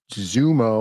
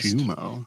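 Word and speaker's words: Xumo: Pluto TV is Viacom, CBS, and Zumo or Shumo, because it's spelled in X, is owned by Comcast, Shumo.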